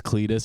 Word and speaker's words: Cletus: Yeah, his name's Cletus, and it's spelled like CLEAT, like football cleat.